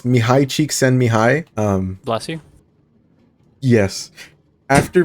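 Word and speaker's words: Csikszentmihalyi: but but the the the article that I read it said pronounce it like this it's Mii cheek send Mi High um bless you yes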